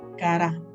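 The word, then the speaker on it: קרא: Y el llamado de Dios viene del original que se pronuncia cara, C-A-R-A, con acento en la cara, y tiene un significado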